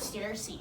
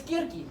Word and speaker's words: Circe: It's not Circe. It's Kirki. It's how you actually say it.